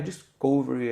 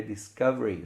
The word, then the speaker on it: discovery: Não é discovery, é discovery.